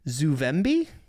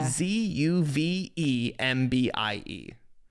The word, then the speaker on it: Zuvembie: Zuvembie? No idea. Zuvembie. So it's like zombie, except for without an O, it's UVE.